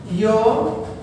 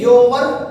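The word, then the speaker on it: your: ये योवर नहीं होता है, बहुत सारे लोग इसको बोलते हैं योवर, गलत है। आप इसको बोलेंगे योर, ठीक है, योर बोलेंगे तो इसकी प्रोनाउंसिएशन हमारी योर होती है।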